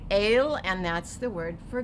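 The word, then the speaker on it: אל: Now we have 2 dots under the aleph, so it's going to say A, and the lamed, which is going to say ol, so we're going to say el, and that's the word for God.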